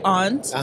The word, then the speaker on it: aunt: the thing i say i say aunt he's like it's ant yeah i'm like you're saying it wrong damn chris if you're